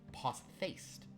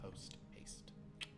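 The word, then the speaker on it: post-haste: is a fun fact if you see that word written you might think it's pronounced poast but it's not it's post past it's a compound word so there you go prove it uh let's see www.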